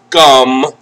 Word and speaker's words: gum: Gum. Gum. All right. Gum. Gum. Okay. Don't forget the last letter. M. You have to close your mouth.